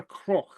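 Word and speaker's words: cnoc: cro cro yeah um the CN in GAC is pronounced as a CR okay one more time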